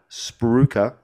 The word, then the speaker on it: spruiker: i love that um do you know how it's pronounced sprue s-p-r-o-o-k-e-r spruka but it's spelt s-p-u-i-k-e-r potato wow that's normally the